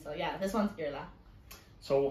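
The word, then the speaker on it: Iarla: scary i would say the first name is pronounced yar fight nearly it's irla you're okay so the eye aor is ear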